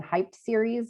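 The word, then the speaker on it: HypeEd: our specific webinar series hashtag is hashtag hype Ed series which we're pronouncing hype series and stands for hypertension education series super well thank you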